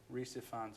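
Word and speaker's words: Rhys Ifans: Reese Ifans, I know.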